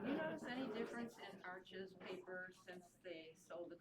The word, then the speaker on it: Arches: Arches.